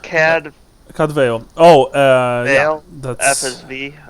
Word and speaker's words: Cadfael: How is it pronounced? Cadvale.